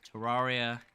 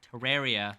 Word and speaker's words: Terraria: my video on I'm going to say both pronunciations Terraria Terraria there you go okay when I made my